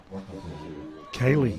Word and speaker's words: Kylie: How would you pronounce that? Kaylee. Kaylee. Okay, let's go with Kaylee.